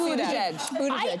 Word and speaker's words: Buttigieg: I saw butt. I did see butt. It is Buttigieg.